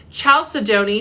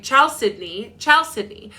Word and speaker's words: chalcedony: Chalcedony. Shout out to whoever was in my Chalcedony, but it's pronounced, it's Chalcedony, I think.